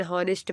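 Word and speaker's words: honest: जैसे एन हावर हो गया, एन हॉनेस्ट मैन, N hair हो गया, हिस्टोरिकल नॉवल हो गया। तो ये सब क्या है? यच इसमें साइलेंट है।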